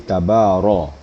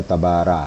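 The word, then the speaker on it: تبارك: ini baris di atas maka bacanya tafkim atau tebal di tabaro nah jangan dibaca tabara tapi ro ya kemudian huruf ha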